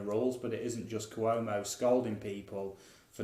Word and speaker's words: Cuomo: So this week, Governor Andrew Cuomo, is that how you pronounce his name, Mark?